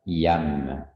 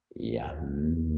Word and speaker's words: YAM: poitrine, ce centre du cœur, qui est la syllabe YAM, Y-A-M.